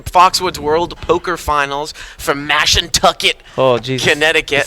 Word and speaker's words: Mashantucket: We're from Day 1B here, the Foxwoods World Poker Finals from Mashantucket, Connecticut.